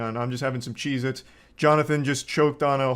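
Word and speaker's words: Cheez-It: Cheezits, and I'm still saying it wrong. Cheeits never existed. They have always been CheezIt, not plural.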